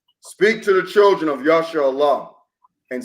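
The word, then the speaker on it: ישראל: In the Lashawam Kadash is Yashar'Allah. You hear some people that follow these Edomites, they mispronounce it Yasha'ah. It's not pronounced like that, man.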